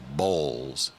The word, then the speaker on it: Boyles: I was told Jace Bowles, it's spelled Boyles, but you're not supposed to say it like that. It's like Bowles.